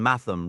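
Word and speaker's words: Mathom: For instance, bulier uses a G as in the word bulge and Matham rhymes with fathom.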